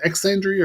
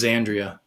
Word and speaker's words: Xandria: And then we had Lisa Middlehoff, singer for is it Exandria or just Xandria? I think it's Xandria. Okay, they do it with a Z. Okay. Yeah, like Xanadu. Like yeah. Xandria. Okay. That's the way I've always pronounced it.